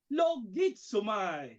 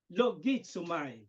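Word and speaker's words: λογίζομαι: sa salitang Greek na logizomai, di ba? Logizomai. Logizomai. Hindi to siomai, kundi logizomai.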